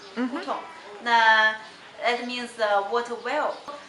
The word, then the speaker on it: hutong: Mongolian people pronounce this word very short and very quick as Hutong. Hutong.